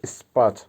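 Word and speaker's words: спать: হবে ঘুমানো বা ইংলিশে হবে স্লিপ আবারো বলছি উচ্চারণ হবে স্পাট বাংলা হবে ঘুমানো ঘুম বা ঘুমানো বা স্লিপ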